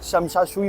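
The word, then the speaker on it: Tsim Sha Tsui: जैसे सुनामी में T silent होता है वैसे ही शमशाशुई बोलते हैं इसको।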